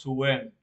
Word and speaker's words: Suen: Tenemos el dios Sin, que es el dios lunar, que significa señor del conocimiento, y se escribe Ensu, pero lo pronunciamos Suen. El sumerio es Suen, en acadio es sin.